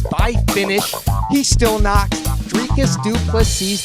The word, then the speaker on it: Dricus Du Plessis: He still knocks Dricus Du Plessis. The S is silent, but it's violent.